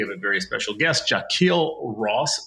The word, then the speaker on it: Jahquille Ross: Today we have a very special guest, Jaquil Ross. Sir, am I pronouncing your name the right way? You are. You actually got it right. All right. Jacquil Ross is with us.